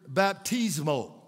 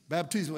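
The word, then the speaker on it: baptizo: The word baptized here comes from a Greek word that we often reference, and is the word baptismo. Baptismo, if you're taking notes, it's spelled B-A-P-T-I-Z-O, baptismo.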